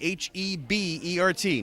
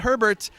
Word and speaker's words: Hebert: Spell my last name Hebert. Not Herbert. Hebert. It's pronounced Hebert, but it's easier to say at Kyle Hebert.